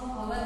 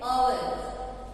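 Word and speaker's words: hour: आता है, consonant sound, बट इसमें एच जो है वो साइलेंट लेटर है, हम इसको अवर नहीं कहते, क्या कहते हैं, अवर, क्या कहते हैं, अवर।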